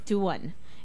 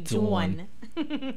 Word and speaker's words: Dawn: Her name is Duan." And that was it, because he was so cute. I made sure everybody, including my parents, knew that my new way of pronouncing my name was actually Duan.